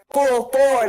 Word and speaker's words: Fulford: No, not fur. Fulford, like a Ford. Ford. Ford. F-O-R-D. F-O-R-D. Fulford. Fulford. You're funny. I said it right? Fulford. No, it's like you full. I'm hungry, but you're full. Okay, F-U-L. Fulford.